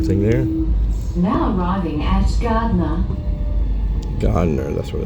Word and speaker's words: Gardiner: Now arriving at Gardner. Gardner, that's what it's not Gardner, not Gardner, Gardner, okay. Gardiner, I thought so they pronounced it Gardner.